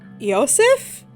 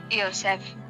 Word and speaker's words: Yosef: russian at all joseph let's try that again yosef yosef okay i think that's